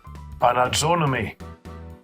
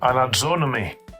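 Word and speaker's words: ἀναζώννυμι: use the Blue Letter Bible app online to pronounce it for us. Here's that word. Strong's G 328, anadzonomy. Anadzonomy.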